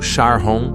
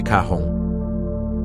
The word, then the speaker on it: Charon: Mas como ele também queria homenagear sua esposa, Charlene, ele pronunciou como Charon em vez de Caron.